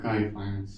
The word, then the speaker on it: Kai Finance: uh today I'm going to talk about uh K Finance. Yep. Did I pronounce it correctly? Yeah. Kai Finance.